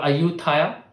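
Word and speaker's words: Ayutthaya: dynasty in Thailand is aoda it's now called auta as they pronounce it but it's basically because they viewed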